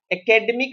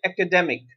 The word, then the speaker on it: academic: एकेडमिक नहीं कहेंगे हम इसे, इट is pronounce like एकेडमिक, शैक्षिक या विद्या विषयक।